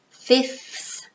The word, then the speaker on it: fifth: This one you can pronounce in two ways. Fifth or fifth. Fifth is easier. The second F, you take it out. So it's fifth, fifth, or fifth. Both are correct.